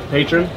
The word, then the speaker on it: Patron: And the brand new Scott Patron. Is the correct pronunciation.